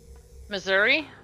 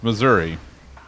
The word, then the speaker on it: Missouri: Many people will say the correct pronunciation, which is arguable, is Missouri. Very much like it is spelled. But if you're from the South, it's Missouri. Which is gross.